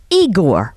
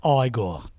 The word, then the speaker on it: Igor: I have with me now Igor or Warren Shine. Warren is is is a funny man. Anyway, he was fabulous. It's pronounced Igore.